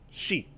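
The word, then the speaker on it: 四: So, just as a quick aside, the number 4 in Japanese is pronounced shi.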